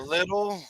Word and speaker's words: Lidl: Little, I guess is how you pronounce that. Yeah, Plus, Lidl.